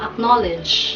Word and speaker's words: acknowledge: Pero ang tama pong bigas sa salitang acknowledge ay acknowledge. Pakiulit nga po. Acknowledge. Acknowledge. Acknowledge. Ang stress ay nasa second syllable.